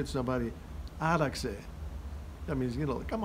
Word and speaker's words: άραξε: In the English language, usually they use the Z, the letter X, to pronounce the Z. You know, when they write a Greek word, the letter X, in English you pronounce it as Z, which is incorrect. So this is the X.